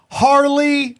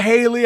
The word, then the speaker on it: Harley: gold and silver uh Harley not Haley I've been told I've been saying it wrong Harley Harley Ray crystals and then our